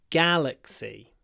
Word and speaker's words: galaxy: of stars in our galaxy galaxy the stress is on the first syllable g g Galaxy say it with a